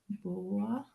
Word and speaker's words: boa: In italiano aperto diciamo serpente boa, ma in bergamasco diciamo serpent boa.